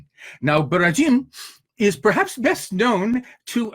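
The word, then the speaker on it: Borodin: it's by barajin that spell b-o-r-o-d-i-n and usually pronounced in america as boridin but the russians say now beratin is perhaps best known to americans because a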